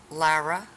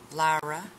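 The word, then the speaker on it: Lyra: one is the pink one and it is Lara Lara ly RA Lara loved it the next one is the reddish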